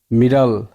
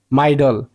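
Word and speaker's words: middle: মিড doll, মিডল, মিডল, মিড doll. আর যদি একটা ডি না দেয় তাহলে উচ্চারণ হয় মাইডল, কিন্তু এটা উচ্চারণ হচ্ছে মিডল।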